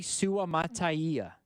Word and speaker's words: Suamataia: How is it pronounced? Kingsley Suamataia.